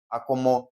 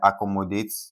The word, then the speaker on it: accommodate: same like I said, we stress the third syllable from the end. So, if we're having a word like accommodate, okay, we're having a word like accommodate. If you break it into its units like this, what's the first syllable from the end? We have one, two and three. So, C double double C O is being stressed.